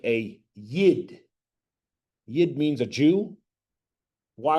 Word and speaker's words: Yid: Yid is letter Y. This letter is like the letter Y. It makes the same sound. Yid.